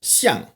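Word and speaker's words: 象: Elephant and statue are both pronounced xiang.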